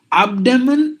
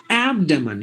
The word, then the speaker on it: abdomen: anxiety apathy apparatus appetite but it should be ah like the word does in cat Matt the Asian cat Matt that's the symbol for that synonym ah like you you wide open your mouth and then you pronounce the sound ah so that's the sound you have to give Abacus Abby abdicate not abdicate abdomen no abdomen you have to say ah as in cat Matt rat fat abstain advert advertner adverb